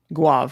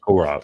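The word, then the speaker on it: Gourav: And I would try to say Adash Guav, thank you. Gaurav. There's an R in there.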